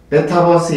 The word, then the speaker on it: 메타버스: 국민의당 대표에 출마를 해서 1위를 달리는 이준석의 열풍을 보면서 무엇을 생각하게 되냐면 요즘 태풍이 부는 것처럼 다가오는 메타버스 발음이 어떤 사람들은 메타푸스라고도 하지만 정식 명칭은 메타버스입니다. 메타버스 열풍을 보는 것 같습니다.